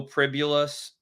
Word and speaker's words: Pribula: In his stead, Bo Pribulus, pronounced like Nebula, was pretty good.